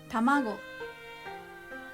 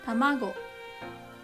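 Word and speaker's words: たまご: and tanki is weather number three middle high examples are hikoki hikoki tamago tamago hikoki means airplane and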